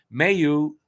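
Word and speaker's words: Mailloux: and my you uh Mayu by the way is pronounced may you is looking good like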